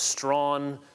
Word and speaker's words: Strachan: April 26 1710 at Strachan str acha in pronounced by some as strong strong in about 20 miles